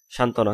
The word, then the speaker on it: সান্ত্বনা: তারপরে বফলা অন্য কোনো যুক্ত ব্যঞ্জনের সঙ্গে যুক্ত হলে বফলার উচ্চারণের যে অনুচ্চারিত থাকে, যেমন সান্ত্বনা, তালিবা শাখা সা, ন তকাত্ত, না সান্ত্বনা।